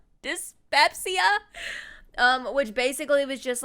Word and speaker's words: dyspepsia: the terrible eating habits dyssepsia i think it's what how you pronounce that i'm a little dyslexic dyspepsia um which basically was